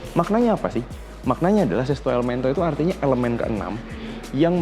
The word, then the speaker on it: Sesto Elemento: Gambarnya kayak gitu, judul logonya 6 Elemento, bacanya Sesto Elemento.